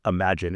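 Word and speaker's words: Imagen: Veil, we've talked about that plenty of times, but just this week they shipped, I think it's pronounced Imagine. It's spelled like Imogen, right?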